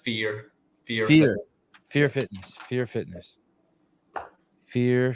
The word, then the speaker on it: Fior: don't have headphones on bam we're live Rory fure Fitness fure say it for me well we're not a talian so it's it's a more harsh sounded word um it's pronounced fear fear Fe fear Fitness fear Fitness fear Fitness